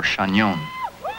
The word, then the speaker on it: Chagnon: my name I told him that it was Chagnon or Shenyang but they couldn't pronounce it it sounded to them like they're